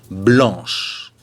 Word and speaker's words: blanc: Et féminin pluriel, on ajoute le S qui ne se prononce pas évidemment. Blanche.